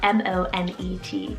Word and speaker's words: Monet: Monet or Monet, spelled M-O-N-E-T. Monet is the proper pronunciation to use, and it's a French name.